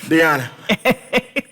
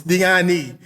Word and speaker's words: Diani: Y'all cannot pronounce Diani, but I'm not judging, because I can't pronounce some of y'all names either. You know, niggas in Atlanta can never finish their words. Diana. But see, Diana. They'll never say that I. It's Diani, not Diana.